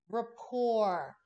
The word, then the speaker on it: rapport: I will start again r a p p o r t it looks like report but it's pronounced Rapport Rapport building rapport with